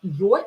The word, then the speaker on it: ее: Ее is always stressed, so here ye will be a little bit reduced. It will be pronounced as и.